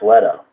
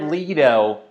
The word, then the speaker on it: Leto: Leto is it Leto I believe it's Leto wow well Jared Leto is sorry not not trying to uh no no that boy on here no I really am embarrassed that I've been pronouncing it Le Jared Leo but shout out to